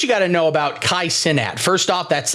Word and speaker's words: Kai Cenat: Here's what you got to know about KAI CENAT. First off, that's how his name's pronounced.